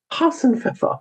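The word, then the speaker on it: Hasenpfeffer: Yes, that's how you say it. Hassenfa. You know, like on the Bugs Bunny commercial.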